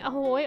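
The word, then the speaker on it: Ahoj: Haley Ahoy Ahoy Haley did you know that Ahoy is hello in Czech but it's spelled with a J on the end did you know that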